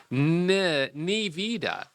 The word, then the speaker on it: Nevada: So some people said you got to really emphasize the E. Nivida.